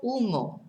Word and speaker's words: humo: El coche echa mucho humo. So the car gives out, I suppose we'd say, or releases, gives out a lot of smoke. Humo is smoke. Remember, we don't pronounce our H's in Spanish.